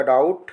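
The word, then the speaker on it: doubt: हम देख रहे हैं टी के पहले क्या ए रहा है बी ए रहा है तो इसे अगर हम साइलेंट लेटर यहां पे बी को हटा देंगे तो ये हो जाएगा डाउट इसी प्रकार दी ए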